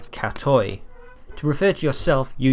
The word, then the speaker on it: katoj: J to the end the J is pronounced like a why cat o cat toy to refer to yourself